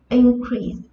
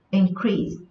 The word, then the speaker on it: increase: Khi nó ở dạng danh từ, khi nó đứng ở vị trí là danh từ thì trọng âm của nó rơi vào âm tiết đầu tiên. Khi nó đứng ở vị trí là động từ, trọng âm của nó sẽ rơi vào âm tiết thứ hai.